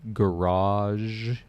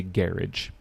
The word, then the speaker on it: garage: pronunciation so for example in American English how do we say this word we say this word as garage but in British English they say garage garage right so you know you